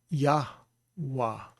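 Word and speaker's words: יהוה: But Yod, hey, with a kamatz will be Yah, and then wall is the W sound with a patak is Yah, or Wah, sorry. So it would be Yahweh, Yahweh.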